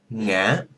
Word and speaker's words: ngã: If you go to Vietnam, you will hear it distinctly when it's pronounced by the northerners, but you go to the south, they just pronounce it as the same thing.